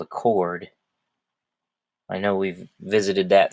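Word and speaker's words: chord: he says toward but it's a cord spelled with the CH and that's another part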